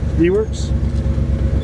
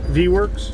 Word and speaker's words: VWerks: How is this pronounced? Vworks. Say that again. Vworks. Just Vworks.